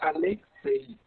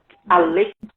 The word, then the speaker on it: Alexei: seu nome é bom o nome é russo né meu pai sempre gostou de literatura né estrangeira e viu meu nome no livro e me presenteou quando nasci né então eh lá na na na Rússia bem comum eu acredito que seja Alexi né Alexi estrangeiro lá para pronunciar